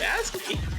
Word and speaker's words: ASCII: I mean, that's how you pronounce it. Yeah, it is. Bruh. If you think about it. It's ASCII.